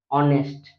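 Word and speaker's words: honest: कोन होची हनेस्ट जगह रे कोन एच जदी साइलेंट रहिला पिले कोन हबो ऑनेस्ट कोन होची ऑनेस्ट तो सेही कारण जोगु कोन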